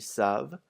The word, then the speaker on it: savent: Also notice that the ENT isn't pronounced on either of the il with an S or the L with an S. Never ever in French is the ENT pronounced in a verb.